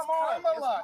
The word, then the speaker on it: Kamala: Let me So pronounce her name right. Kamala Harris. If Kamala. You said I will say Nancy. It's Kamala.